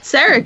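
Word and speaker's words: Sarek: I mean, for Serac as well.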